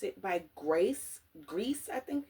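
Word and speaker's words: Grès: Grease, I think it's how you pronounce it. Gres is the perfume house. Cappuccine, but yeah, Gres.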